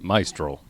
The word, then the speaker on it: Maestro: solutions are my stroll now roll your R yep maestro much better Frank Torres is the